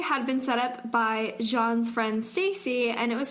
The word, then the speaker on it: Jean: That says Jean. Jean, apparently. That's how Are she... you serious? That's how she pronounces it, Jean. That's an asshole thing to do. That's not how you spell John.